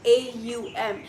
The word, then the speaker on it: Om: om um and it's most people think about om as om but it's actually a-u-m so just pronounce it